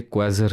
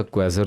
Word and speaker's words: quasar: Object होता है, उसे क्वेजर कहते हैं। मैं इंटरेस्टिंगली आपको इसके स्पेलिंग भी बताता चलूं, QUASAR, क्वेजर। क्वेजर भी कहते हैं इसको, क्वेजर भी कहते हैं, दो ही प्रोनाउंसिएशन है इसकी।